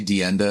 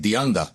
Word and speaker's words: DeAnda: And then even I say DeAnda, and I go to these Snap-on things, you know, you're mispronouncing your last name, right? They're like, "DeAnda."